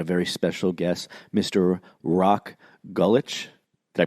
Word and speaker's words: Rok Gulič: Rok Gulič. Did I pronounce it correctly? That's pretty good. Rok Gulič, yes.